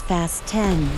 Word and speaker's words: Fast X: suggested in the title he pronounces fast X as fast 10 like fast in your seat belts starring in fast